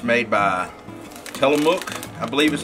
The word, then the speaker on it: Tillamook: It's made by Tillamook, I believe is how you pronounce it.